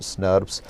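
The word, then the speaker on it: snRNPs: proteins small nuclear ribonucleoproteins snr and ps are pronounced as snurps these are the and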